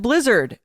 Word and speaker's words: Blizzard: There is no S on the end of Blizzard. I don't know how many times we have to say this, but people, it's there is Blizzard.